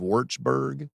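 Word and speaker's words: Würzburg: Uh then forgive me if I pronounce this wrong. Julius Maximleians University of Wartsburg.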